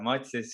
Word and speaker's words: Mathias: And today we have Mathias here. Did I actually pronounce it correctly? Yes, you did. Yeah, Yeah, it's Mathias.